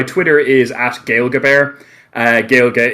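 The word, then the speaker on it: Gaeilge: is at gailgabear uh Gail get is the Irish word for Irish uh that is spelled g-a-e-i-l-g-e then bear like the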